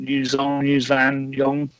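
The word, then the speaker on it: Yuuzhan Vong: was the Yuzon, I can't even say it, Yuzan Yong. How do you say it, Darrell? Yuzan Vong, who are basically a bunch of aliens that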